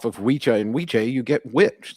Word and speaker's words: wicca: So, okay, the name Wicca originated from the Old English word Wicca. Well, it's Wicha. It's Wicha and Wiche. The two C's are pronounced like the palliative of the CH in the word chip.